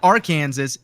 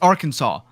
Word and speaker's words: Arkansas: another State Kansas right it's not it's not Arkansas it's Arkansas but why it's spelled the same why does it change Little Things did you